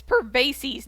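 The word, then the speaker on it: Pervases: for this excuse me it's pervasis not pisces pervasis p-e-r-v-a-s-e-s spell it right he's a yaksha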